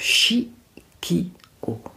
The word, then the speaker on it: Chiqio: marque de de parfum d'eau de parfum donc chi k o ça s'écrit C H i Q i o voilà